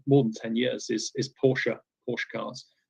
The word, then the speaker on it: Porsche: And one of the clients who I've worked with now for more than 10 years is Porsche cars, Porsche, as it's pronounced in Germany.